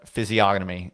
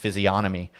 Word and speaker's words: physiognomy: but um soy dev physiognomy is what he said i always thought it was pronounced physionomy i thought that g was a a soft g but uh there you